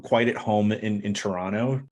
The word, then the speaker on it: Toronto: at home in in Toronto didn't pronounce the second T there so hopefully sound like a pro there we go can